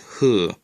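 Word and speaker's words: ふ: Hu can be written in English as either hu or fu, but it's always pronounced hu.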